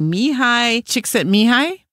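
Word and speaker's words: Csikszentmihalyi: there's a guy named Mii chicks at mihi and I can only say that because I wrote it out phonetically with chick sent Mei such an unusual name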